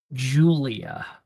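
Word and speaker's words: Giulia: She So, she wrote down Julia Julia with a G as like a kind of little joke.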